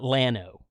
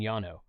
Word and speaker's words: Llano: And it's a Spanish word, and double L in Spanish is pronounced like a Y.